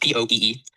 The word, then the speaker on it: POEE: POE, pronounced POEE, is an acronym for the Paratheo and Metaphysic Code of Eris Esoteric.